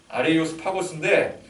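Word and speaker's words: Ἄρειος Πάγος: 그래서 그를 아레오바고, 이 아레오바고는 이제 아레이오스 파고스, 원래 발음으로는 아레이오스 파고스인데 이 고대 아테네의 정치기구로서 법정 같은 곳이라고 보면 됩니다.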